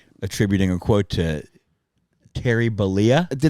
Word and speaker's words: Bollea: I didn't know Balia was the last name.